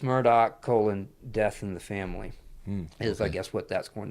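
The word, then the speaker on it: Murdaugh: Now it's it's spelled Murdoch, but it's pronounced Murdoch. I guess that's the uh Celtic or Scottish um pronunciation for Murdoch. Murdoch. Um but but it's Murdoch colon death in the family is I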